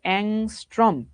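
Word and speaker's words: ångström: দেওয়া আছে 7000 অংস্ট্রম এটার উচ্চারণ হইতেছে অংস্ট্রম এ তরঙ্গ সংখ্যা এই কাচাবাচারা তরঙ্গ সংখ্যা মানে কি বুঝায়?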